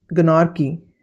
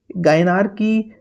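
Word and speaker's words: gynarchy: गनार की जी वाई एन ए आर सी एच वाई गायनार की गनार की कुछ भी बोल सकते हो।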